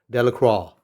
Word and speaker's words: Delacroix: harry jones and dickie delacroix villagers pronounced this name de la croix eventually made a great